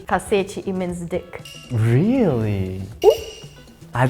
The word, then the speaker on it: cacete: Oh, can you pronounce it? Cassette. Cacete!